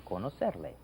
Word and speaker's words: conocerle: Mucho gusto en conocerle. Mucho gusto en conocerle. Hey, you pronounce that very well. You know, notice that middle C is pronounced like an S.